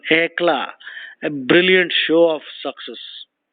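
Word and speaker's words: éclat: is state of anla e c a t the t is silent EA a brilliant show of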